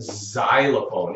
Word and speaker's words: xylophone: Think of the word xylophone. It sounds like a Z in xylophone, right? Xylophone, kind of an S sound, kind of a Z sound.